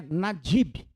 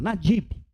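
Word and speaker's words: נדיב: No hebraico é nadib. Bem assim como se fala, nadib.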